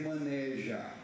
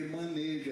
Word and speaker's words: maneja: viaja pelo Brasil inteiro evite dizer maneja a pronúncia correta que maneja é fechado a não ser que